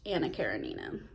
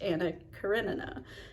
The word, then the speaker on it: Anna Karenina: Up until like a month ago, I always thought this book was pronounced Anna Karenina. So I'm uncultured, as we all know, but it is actually pronounced Anna Karenina.